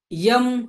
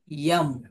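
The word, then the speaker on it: यं: heart चक्र colour green एम हा त्याचा उच्चारण आहे आणि झालं का नीलम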